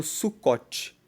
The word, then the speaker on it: Sucot: essa festa também é chamada de festa do sucote se escreve suu c o t e sucot é